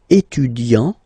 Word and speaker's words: étudiant: Il est étudiant. Okay, A-N-T, étudiant.